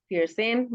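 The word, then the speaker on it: vierzehn: Fair सन। फिर सेन, बिल्कुल सही।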